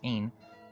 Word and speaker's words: Ein: In this myth, John, Ain, Aeon, or Ein, 3 forms of the word and all pronounced Ein, represents the redeemed and